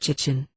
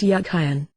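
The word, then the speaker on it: Jachin: meaning of it names the word jiten in Hebrew probably pronounced yakan and meant as a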